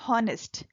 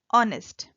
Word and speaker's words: honest: i will tell you the first letter of the word honest is a consonant but it is unpronounced we don't say honest we say honest so in spite of